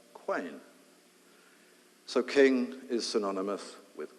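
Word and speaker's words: Qayin: It's from Cain, that we derive the word king, and interestingly, originally, it was spelt with a Q. Q-A-Y-I-N, quain.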